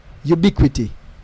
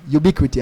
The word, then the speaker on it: UBQT: I'm gonna go to Boom and say, yo, UBQT, Ubiquity. Kind of different look of pronunciation because where the stress is in terms of penultimate syllable.